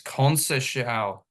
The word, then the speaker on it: Conceição: Yeah, it's Conceição.